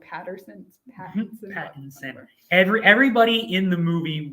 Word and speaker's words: Pattinson: I would say his name like Pattinson.